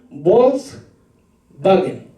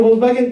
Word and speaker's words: Volkswagen: Si alguien en Alemania pronuncia la W, va a decir Volkswagen. ¿Se recuerda la palabra? ¿Cómo se escribe Volkswagen? Con una W, pero no dicen Volkswagen, ¿no? Sino es Volkswagen, es como una V.